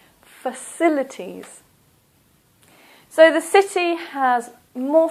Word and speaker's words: facilities: singular amenity plural amenities the next one facilities for silly T's this also is a and the stress is here in the second syllable facilities so the city has